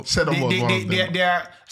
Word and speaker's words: Seedorf: Is that how you pronounce it? Seedorf?